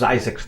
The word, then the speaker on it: Zzyzx: And it turned out it actually is pronounced Zizix, the road is, but I've been saying Zizix for so long.